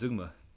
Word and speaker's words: zeugma: I like the zeugma pronunciation better, but if it's zeugma, it's zeugma.